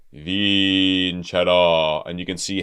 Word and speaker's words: vincerò: So instead of E, vincerò, it's vincerò.